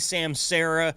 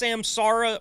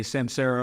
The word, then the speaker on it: Samsara: open I'm saying Sam Sara Dean you're saying Sam Sarah which one is it I want to get it right so I don't sound like an idiot is it is it pronounced samsara or Sam Sarah it it is actually pronounced